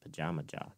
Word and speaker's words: Pajama Jaw: Is it Pajama Jaw or Pajamaja? Or what's the pun there is like pajamas or however you pronounce it. I pronounce it pajamas. So I pronounce it Pajama Jaw because yeah, that's how it works.